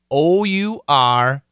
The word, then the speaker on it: our: it is our own our own so perfect pronunciation is our just like one hour to hour however in Daily English we usually shorten it to one syllable and say r r